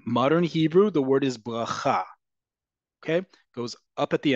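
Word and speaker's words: ברכה: Whether you say rish, um uh as um rish or reish or rish, bracha bracha bracha, they all mean the same thing in Hebrew, a blessing. Again, we talked about this last week. We've talked about this multiple times in the past. The default emphasis in modern Hebrew is always on the last syllable.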